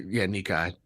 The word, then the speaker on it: Nikkei: And he was speaking to, I can't pronounce this, is it Nikkei? Yeah, you could just say, Nikkei.